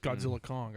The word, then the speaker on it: Godzilla x Kong: don't know or it's godzill x is silent apparently it's just Godzilla Kong I heard whatever it's